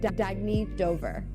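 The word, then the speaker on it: Dagne Dover: Oh, it's pronounced Dagny Dover. Dagny means new dawn.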